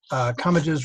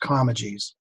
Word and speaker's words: Comegys: Comegys rhymes with rummages, except in Philadelphia, where it is pronounced Comegys.